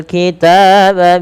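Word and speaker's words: الكتاب: Yaktubunal kitaba bi aidihim, panjangkan ta sepanjang 2 harakat karena dia ada alif kecil setelahnya.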